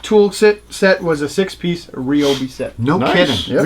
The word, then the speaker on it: Ryobi: It's not Ryobi, it's Ryobi. Ryobi.